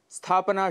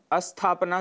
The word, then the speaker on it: स्थापना: स्थापना शुद्ध उच्चारण है, जबकि अशुद्ध उच्चारण हम अस्थापना कर देते हैं, जिसका अर्थ विपरीत है, अर्थात स्थापना न होना, स्टेबल न होना, एस्टैब्लिश न होना।